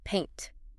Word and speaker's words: paint: Now, the colorful liquid you put on walls, paint. P A I N T. This uses a completely different dip thong. E, like the letter A in the alphabet. Yes. Your jaw does not drop nearly as much. You start with an A sound and glide to an E. E. Paint. It rhymes with saint or faint.